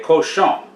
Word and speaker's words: cochon: thing jambalaya lesore de cochon les oray de cochon the n on the end of cochon is silent not cochon and this is a